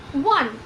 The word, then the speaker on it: one: ওকে, ONE আর WON এই দুটোর উচ্চারণ একই।